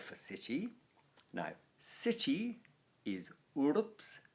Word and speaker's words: urbs: city now city is urbs very hard word to pronounce correctly it's a short u but it's followed by an r and a b and an s which you know is kind of quite a lot of consonants to to get together while